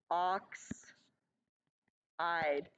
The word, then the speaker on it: oxide: that just sounds weird most anions in fact almost all anions only have two syllables oxide not oxid side okay oxide so if I was to